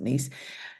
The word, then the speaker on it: Gneiss: step out for nella some might pronounce it nice Del I but I pronounce it nice and that's what's great